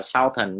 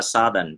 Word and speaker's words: Southern: Trong khi đó tính từ rất nhiều người tưởng đâu là Southern nhưng thật ra nó là Southern.